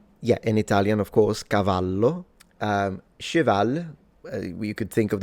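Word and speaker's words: cavallo: And one last thing I wanted to say is that of course the double L in Italian is just pronounced as a longer slash stronger version of the single L.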